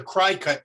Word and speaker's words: Cricut: The stencil cutting machine, the cry cut machine is the one, or Cricut. I guess if somebody says it's pronounced Cricut.